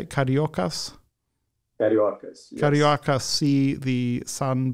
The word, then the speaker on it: Cariocas: Cariocas.